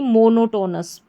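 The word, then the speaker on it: monotonous: और TO को यहाँ पर टू नहीं पढ़ेंगे, टो पढ़ेंगे। तो यहाँ पर ये जो तीनों ओ आ रहा है, इनको ओ की मात्रा के रूप में ही पढ़ेंगे। क्या होगा ये? मो, नो, टो। और लास्ट में NOUS, नस। तो पूरी स्पेलिंग हमारी बन गई मोनोटोनस।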